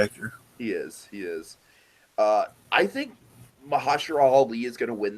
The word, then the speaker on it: Mahershala: Mahershala, by the way, Dragon, that's how you pronounce it. Mahershala. We've been pronouncing it wrong for like. Wait, so it's not Mahershala? It's Mahershala.